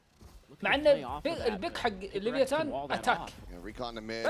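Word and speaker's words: Leviatán: come into this ها just النطق الصحيح لاسم التيم. looking chipper. ليفياتان.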